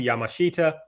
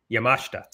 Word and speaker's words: Yamashita: Antonio Honda and Miyu Yamashita. You know, I say that name all the time, and I just said it wrong. It's Yamashita.